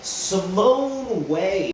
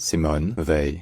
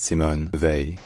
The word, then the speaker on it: Simone Weil: This name is pronounced Simone Weil. The A sound in French doesn't exactly exist in English, but it's pretty close to the A sound, as in to pay, so it's Simone Weil.